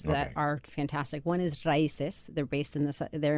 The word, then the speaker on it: RAICES: One is Raices. They're based in this, they're in McAllen, and they basically receive fees to pay for lawyer, lawyers. What's the name of the? Raices.